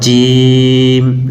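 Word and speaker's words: ج: তারপরে জিম, জিম শক্ত, জিহ্বার মধ্যখান তার বরাবর উপরে তালুর সঙ্গে লাগাবেন, জিম জিম জিম, এরকম করে আলিফ বা তা সা জিম।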